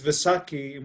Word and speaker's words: Vaisakhi: four or five different pronunciations okay yes the pronunciation is Vaisakhi but the holiday is about it basically really